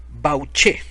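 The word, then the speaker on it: Bauche: y el mapa de bauch así como lo estoy leyendo amigo no estoy haciendo así no me estoy haciendo el guapo no estoy poniendo acentos se escribe B a u c h e bauch y en este mapa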